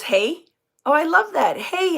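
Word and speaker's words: Hej: Hey, is it hey he haj he? It's just hey.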